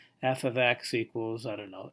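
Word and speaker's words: f(x): this right here F this is pronounced f of x not f x x and this would be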